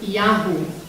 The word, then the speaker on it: Yahoo: The word is Yahoo.